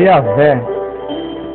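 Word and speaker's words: Javé: vogais Ficamos sabendo que a pronúncia correta do nome de Deus é yavé inclusive é interessante notar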